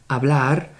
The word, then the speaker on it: hablar: A very important thing to notice, verbs in the infinitive, hablar, they have the strong syllable at the end, always.